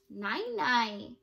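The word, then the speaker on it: nai nai: philippines where messerisa's family is from what about nine-nine what language do you think 99 is from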